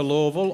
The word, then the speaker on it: Louisville: that you use the Louisville Airport and I pronounced Louisville correctly it's not Louisville its Louisville so it's local Louisville so we recommend you